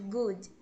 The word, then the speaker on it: good: exemplo good no pronuncie Tem muita gente que não pronuncia Gude pronuncia Gude mas não existe a letra i que vocês colocam no finalzinho tá é a pronúncia do DER é bem suave e temos os desfiles